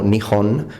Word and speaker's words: Nihon: Quindi come Giappone diciamo Nihon con l'H e giapponese diciamo Nihonjin, questo nome sarà Hirohito.